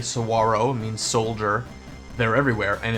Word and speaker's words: Saguaro: learned that the main Cactus the Saguaro to pronounce the G Saguaro means Soldier they're everywhere and it's wonderful they're